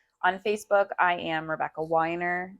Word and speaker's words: Weiner: Facebook I am Rebecca weiner w-e-i-n-e-r spelled like weiner pronounced like Weiner and then you can